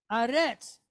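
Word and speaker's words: אָרֶץ: This is not eretz, this is aretz. So when we say eretz, we're talking about the land. Eretz Yisrael. When we say aretz, we're talking about the earth. Okay? The whole thing, water and all.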